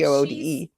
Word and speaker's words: Goode: So do they call him Goody? And was she like calling him by his nickname? Because I know it's pronounced good. It's if she's Goode.